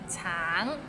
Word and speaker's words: 橙: Tang, it means orange, but some people might find it difficult because the end has a little ng, so it's a bit of nasal sound.